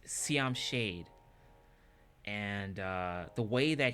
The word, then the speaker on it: Siam Shade: the name of the band is this it's pronounced Siam shade and uh the way that he sang his